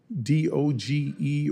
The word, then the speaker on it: DOGE: May I ask you, do you work with any of the members of DOGE or DOGE? How do you pronounce the name of the committee?